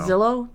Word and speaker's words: Zillo: I know, but I always mess up calling it the Zillo Beast or the Xylo Beast. I think it's Zillo. I think it's Zillo because someone told me it rhymes with pill, and I call it